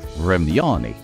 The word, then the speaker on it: Vremyonni: So 3 syllables, emphasis on the second one, the Thremyani, also known as the Old Ones.